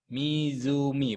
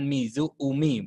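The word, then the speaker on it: 湖: Pantai mizumi Danau mizumi mizumi bukan Mizu Umi bukan begitu ya pengucapannya mumi Yama gunung resutoran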